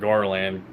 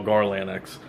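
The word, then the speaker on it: GarlandX: why I pronounce it Garland and I always tell people that you know the x is silent cuz you know a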